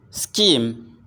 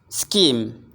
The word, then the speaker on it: scheme: prohibit prohibit prohibit heavy scheme scheme scheme here we have three sounds s and key and then M SE we can hear